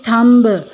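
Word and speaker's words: thumb: Now next is थम्ब, normally हम इसको थम्ब बोलते हैं और हम बी प्रोनाउंस करते हैं, बट हमें नहीं करना बी प्रोनाउंस।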